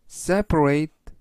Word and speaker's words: separate: left 직진하다가 좌회전하세요 뜻이 되겠습니다 이번 단어는 seate separate 하시면 되겠고요 이때 강세는 앞부분에 있는 알파벳 2의 강세가 있습니다 그래서 separate라고 발음하시면 좋겠고요 품사는 동사 뜻은 불리하다는 뜻이 되겠습니다